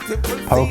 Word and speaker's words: poke: It's pronounced poke.